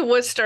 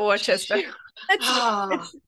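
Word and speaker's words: Worcester: share and let L we say Worster out here not orchester it's a quite the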